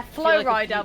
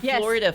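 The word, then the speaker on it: Flo Rida: a cover question mark of that song yeah Flow Rider with cashup is that how you say his name oh my god I've been calling him Florida for years yeah flua but it is like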